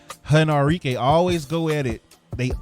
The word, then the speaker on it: Arike: and Enrique they always I'm sorry Enrique let me say it right henarike always go at it